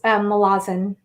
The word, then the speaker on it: Malazan: So is it pronounced Malazan or Mhm. Yeah, Malazan? yeah, yeah, it's Malazan. Okay. And I guess I used to call it Malazan, but apparently Erickson doesn't care. Like if you mispronounce it, it doesn't really matter that much.